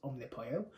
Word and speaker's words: Omnipollo: want to pronounce it apparently it's pronounced omnipole so that's how i'm